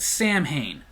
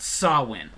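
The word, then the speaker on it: Samhain: got Lost in Translation we were calling it Sam Hayne within the last 30 40 so years a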